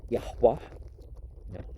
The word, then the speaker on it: Yahweh: in the one God of heaven and earth, pronounced Yahweh, increasing existence, God as a verb and noun, establishing established, and the Persians, who had a monotheistic sun worship.